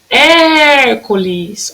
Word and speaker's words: Hércules: Olha lá o acento agudo na primeira sílaba. Ó. Se é a primeira sílaba, que a gente conta sempre de trás para frente, ela é proparoxítona, né? Tem a última sílaba, a penúltima sílaba e a antepenúltima sílaba, que era proparoxítona.